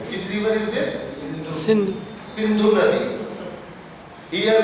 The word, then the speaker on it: Sindhu: Sindhu Nadi. Here we were pronouncing it as Sindhu. In Arabic they don't have sa. They have Indu, not Sindhu, Indu.